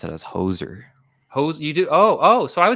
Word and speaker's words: hoser: If you're just joining us, this is Hosier. Subscribe to Hosier. I think I put your link in the description. If not, just search Hosier in the search thingy. Hosier. I'd pronounce it as hoser.